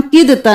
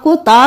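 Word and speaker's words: كدت: 57 में यहाँ पर हम किदता नहीं करेंगे, दाल को नहीं पढ़ेंगे, काफ को ता के साथ मिलाएंगे। हम आपको पहले बहुत बार बता चुके हैं कि जब भी साकिन हर्फ होगा उसके आगे मुशद्दद हर्फ होगा तो हम साकिन को छोड़कर मुशद्दद हर्फ के साथ मिलाएंगे। काफ जेर ता कित करेंगे।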